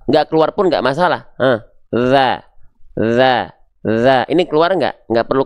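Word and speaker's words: ذ: Tapi fokusnya menyentuhkan, mengarahkan ujung lidah kita ke ujung gigi sari atas kita. Oke? Jelas ya, sehingga pelafalannya kurang lebih seperti ini. Perhatikan baik-baik. Za. Ingat, hanya cukup disentuhkan tipis-tipis saja. Tidak perlu kuat-kuat disentuhkannya. Kenapa? Karena kalau terlalu kuat, bahkan ada yang bilang sampai digigit, maka suaranya akan mampet.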